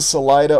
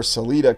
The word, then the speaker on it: Salida: Here in Salida or Celita, Colorado, pronunciations vary, you have the roundhouse of the great rails.